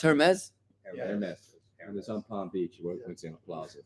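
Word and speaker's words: Hermès: shaped like a handbag Ames unfortunately is pronounced Hermes heres on Palm Beach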